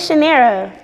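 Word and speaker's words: Chinara: money um china monday my real name is chanera but it's spelled c-h-i-n-a-r-a just take off the a and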